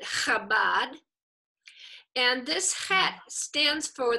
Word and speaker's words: Chabad: So we pronounce it Chabad.